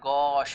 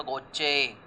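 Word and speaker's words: gauche: चलते हैं तो गश this this is pronounced S गश इट इ नॉट गोचे राट गश French left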